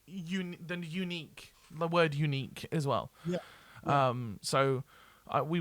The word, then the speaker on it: Eunike: We started a band called Unique, which is spelled EUNIKE.